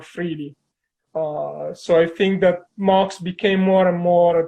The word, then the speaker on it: MHOX: So, and you told me you're pronouncing it as MHOX.